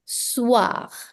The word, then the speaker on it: soir: The evening, le soir. Another nasal vowel here, S-O-I, which is pronounced as wa. So, le soir.